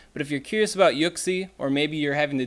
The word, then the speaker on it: Uxie: do we have here does that say oak see ya I think that says yuxi so yuck see how it's pronounced was why you give